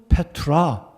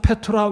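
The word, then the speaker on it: πέτρα: 페트로스다 내가이 반석 위에 내가 내 교회이 반석은 페트라 자 발음이 좀 비슷하죠 너는 페트로서다 내가이 반석 페트라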